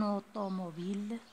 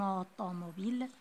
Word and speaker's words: automobile: Si j'avais une automobile, comme si je ne prononce pas le E, je l'ai quand même, je ne la prononce pas, une automobile, je roulerai au clair